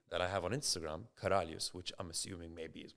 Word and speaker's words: Karalius: I came across this word in Lithuanian, which is Karalius, pronounced Karalius, right? I thought it was Karalius. It's Karalius, yeah. I thought it was Karalius, yeah? Karalius. Yeah, but I like to say Karalius. I like the IU, right?